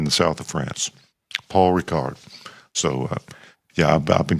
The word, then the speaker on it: Rickard: Is it pronounced Rickard? Thomas. Ricard. No, Ricard. Oh, like Oh, like um like Captain Picard or um there's a French a strange French liquor called uh Ricard.